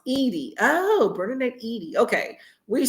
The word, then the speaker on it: Eddy: Emily says, I will never get rid of Bernadette Eddy, pronounced Edie.